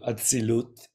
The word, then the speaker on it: Atzilut: beings, which in the Kabbalistic tradition we call Atzilut. Am I pronouncing it correctly?